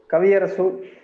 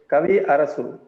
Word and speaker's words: Kavi Arasu: Kavi Arasu. Okay, Kaviara. Kavi Arasu.